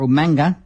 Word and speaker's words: Umaga: Raw Santino Mela defeated Umaga or umanga if you prefer the William Regal pronunciation in a no hoes